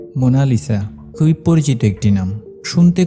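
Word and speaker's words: Mona Lisa: হাসি লিওনার্দোদা ভিঞ্চির আঁকা মোনালিসার এই ছবিটি সারা দুনিয়ার মন কেড়ে নিয়েছিল তবে এই চিত্রটির নাম মোনালিসা নয় এটি একটি উচ্চারণগত ভুল দুভাগে বিভক্ত নামটি আসলে মোনা লিসা ইতালিতে মোনালিসা শব্দের অর্থ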